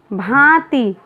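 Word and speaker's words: भाँति: भांति। इसके उच्चारण से पता चलता है कि भा के ऊपर अनुनासिक का प्रयोग करना है।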